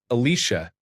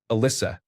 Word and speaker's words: Alyssa: wrong on the check, Alicia, instead of Alyssa, it was not just a spelling error, but also changed the sound of my name.